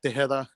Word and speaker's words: Tejeda: much any streaming platform just look up De hea and the Backwoods band and and my last name is spelled t EJ e d it's a weird